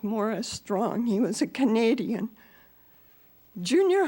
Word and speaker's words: Maurice Strong: that died recently named Morris strong spelled like Maurice strong but pronounced more as strong he was a Canadian